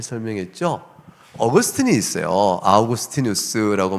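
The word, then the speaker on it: Augustinus: 아우구스티누스라고 말하는데 라틴어로 발음은 그렇겠죠. 영어적으로 우리가 보통 어거스틴 많이 알려져 있죠.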